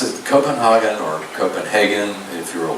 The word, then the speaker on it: Copenhagen: So what you see on your screen is one of the postcard views of, I call it Copenhagen, okay, so just forgive